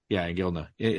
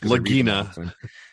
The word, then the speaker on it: Iginla: Yeah, Iginla. How do you pronounce it? Jerome something? Not how you said it. Not how you say it. You had the N and L back.